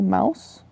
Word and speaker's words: Mauss: They also talked about the Eskimos, the guy who taught Levi Strauss, Marcel Mauss. Oh, it rhymes.